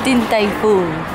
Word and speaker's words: Din Tai Fung: How do you pronounce it? Din Tai Fung.